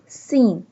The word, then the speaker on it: س: کلمہ تمجید۔ سبحان اللہ سین۔ سین کو سیٹی کی آواز سے ادا کریں گے۔ سین ادا کرتے ہوئے سیٹی کی آواز آنی چاہیے۔ سین pronouns سین like a vessel sound. سبحان ہا ہا حلق